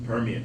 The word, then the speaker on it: Permian: Is it pronounced Permian? Permian, Texas Permian Basin.